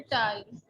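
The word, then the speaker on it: fertile: हाँ जी, आपको बताया ना मैमून, एक सिंपल रूल के आर से पहले जब वाउल्स में से कोई आ जाए तो नॉर्मली आर जो है उसको प्रोनाउंस नहीं किया जाता।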